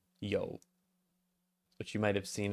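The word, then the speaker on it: 有: uh to to have or to exist uh pronounced Yo which you might have seen elsewhere very common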